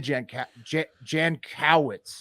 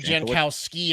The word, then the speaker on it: Jankowicz: Nina Jankowicz. Oh man, Nina I'll tell you what. Jankowicz. Oh, I thought you said Jankowski, and I was going